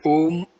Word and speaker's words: Om: other spiritual disciplines whom pronounced om as in home whom is the most